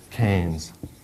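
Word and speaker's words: Keynes: that down John Maynard canes it looks like it's ke or something like that but it's it's like canes k a i n z canes that's a funny spelling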